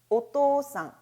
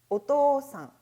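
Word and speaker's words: お父さん: 이 경우 한자 의 발음 이 달라진다는 점 에 유의 해 주시기 바랍니다 . 우리 같이 읽어 볼까 요 ? 오토산 . 오토산 .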